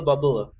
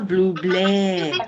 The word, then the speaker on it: Bublé: Oh, Michael Bubble. Get ready. Michael Bublé. Michael Bubble actually sounds better because it rhymes.